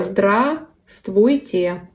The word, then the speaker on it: Здравствуйте: So, В is not pronounced. You say Okay. здравствуйте. Здравствуйте.